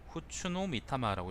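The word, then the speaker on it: 布都御魂: 그때 무옹 대신이 즉각 고창하에게 내 칼은 잠령이라고 하는데 후추노 미타마라고 읽는다네요.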